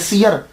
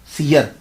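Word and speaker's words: सियर: है और सयरु औलिया ये सयर वैसे अक्सर हम इसको सैर पढ़ जाते हैं ये सैर नहीं है ये सीरत की जमा बनती है सयर सयर तो ये सयर लफ्ज़ होता है अच्छा तो एक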